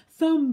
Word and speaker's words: thumb: for mm okay so it's just making that MM sound of course you don't say mmm but we always joke in classic oh my thumb but look at my